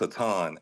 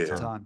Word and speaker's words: Aton: so I don't mess it up so it's Aon a t o n okay yeah Aon all right Aon yeah just didn't want to pronounce it wrong